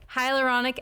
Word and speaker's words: hyaluronic: one that people don't necessarily know everything about hyaluronic acid hmm said it right yes yeah so